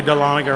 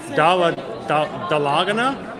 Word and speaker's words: Dahlonega: one cheese tiffany say people not from the area never say dahlonega right they say like talladega uh i said i don't even know how to say it wrong dolla that's how you guess